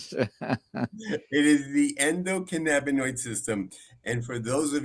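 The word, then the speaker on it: endocannabinoid: How does cannabis interact with the endocanibold system to treat chronic conditions? Good effort. It's the endocanaboninoid system, but that's okay. It's medicine. It's medicine. It's hard to pronounce. It is the endockinabonoid system.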